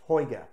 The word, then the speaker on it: Huyghe: never tried delirium tremens the brewery is hoga spelled hgy ghe pronounced taiga this beer is phenomenal this